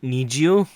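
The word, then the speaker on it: NiziU: Need You. Need You, that's the Japanese pronunciation and the Korean pronunciation.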